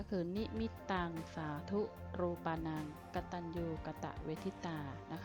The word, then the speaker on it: นิมิตตัง: ด้วย กัน นะ คะ เรื่อง แรก ก็ คือ นี่ มิตตัง สาธุ รูปานัง กตัญญู กตเวทิตา นะ คะ อ่าน ว่า